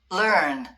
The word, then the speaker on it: learn: L 먼저 오고 R이 오는 거야. 자 발음 한번 들려 줄게. 잘 들어봐. learn learn learn 이거 발음 L 나오고 R 나오고 learn 이거 발음이 어려운데 연습하다 보면 될 거야.